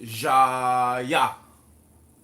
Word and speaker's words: Jaya: So, am I pronouncing it correctly? Or It's pronounced Jaya. Jaya?